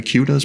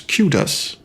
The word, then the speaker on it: Qdos: a social media guru to earn the necessary kudos points to attend? And can we please come to a consensus on how to pronounce kudos?